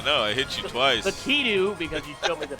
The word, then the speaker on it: Lakitu: Lakitu, because you showed me the pronunciation.